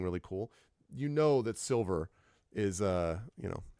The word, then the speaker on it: Silvyr: silver Tower and it's important to note it is spelled by the adventure designer s i l v yr so to be clear silver okay like very very important to recognize that's